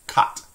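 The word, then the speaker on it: quatre: Again, that goes back to that idea that we don't tend to pronounce the little E sound. So you have cat.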